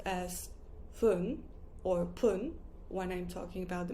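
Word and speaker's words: 分: or 0, we will say pun with P, pun. 0 includes 10, 20, 30. We will say pun. And then if it finishes with 2, 5, 7, or 9, we will say fun or pronounce it as fun.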